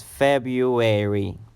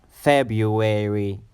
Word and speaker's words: February: keep in mind is the stress is on the first syllable so you have to pronounce it longer February February February is